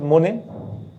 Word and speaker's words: Monet: Claude মোনে, MONET, টিটা silent থাকতে উচ্চারণ হচ্ছে না, ফরাসিতে শেষে কনসোনেন্ট থাকলে উচ্চারণ হয় না সাধারণত।